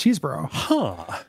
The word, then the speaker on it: Chesebro: Which I just found this out because in looking it up, Cheeseboro Elementary is not like Cheeseboro. It's CHESE Bro. Was the name of my elementary school. Chesebro? Yeah, but it was definitely pronounced Cheeseboro.